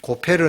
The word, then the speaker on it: 고페르: 그냥 우리 원어의 발음대로 고페르 나무로 방주를 만들라 그랬는데, 그런데 하나님은 이렇게 방주를 만들면서 노아와는 언약을 세우시고 그의 7 식구들이 이제 방주에 들어가게 하십니다.